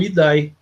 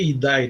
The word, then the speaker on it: idae: Mas o que mais a gente vê no vestibular é o IDAI, né? Na verdade, a gente não lê IDAI, né? Você lê ID.